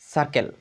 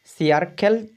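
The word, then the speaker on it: circle: এই সার্কেলটা যখন আমরা দেখব, এই সার্কেলটা দেখো, দেখো সি পরে আই রয়েছে। সিয়ারকেল যে উচ্চারণ ক্ষেত্রে, বানানোর ক্ষেত্রে সিয়ারকেল যখন হবে, কিন্তু এখানে উচ্চারণ হবে কিটা, এই আই না হয়ে হবে আ, মানে হচ্ছে সার্কেল।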